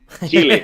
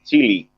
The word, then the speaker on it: Chile: Yeah, man, Chile. Yeah, here we say Chile, but from obviously most of the people say it like Chile.